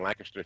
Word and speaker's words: Lancaster: I was working on my doctorate degree in Lancaster Theological Seminary, so maybe I say Lancaster wrong.